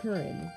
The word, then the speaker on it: Curren: But if you don't know my name, it is Curren, and that's spelled C-U-R-R-E-N, if you're wondering.